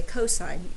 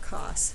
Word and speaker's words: cosine: irony that that cos you say cosine not cost but cosine and you would write